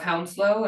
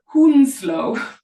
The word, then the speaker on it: Hounslow: But he pronounced, so Hanworth is in the borough of Hounslow, and it's right next to where I live. He pronounced it Hoonslow.